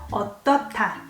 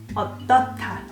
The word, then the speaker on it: 어떻다: When you hear this sound, 어떻다, it sounds almost like T. You don't pronounce H here. 어떻다.